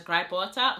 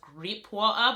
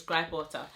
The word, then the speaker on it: gripe water: I don't know how you guys pronounce it, but I pronounce it as gripe water. Some people pronounce it as grape water, but you know, it's gripe water.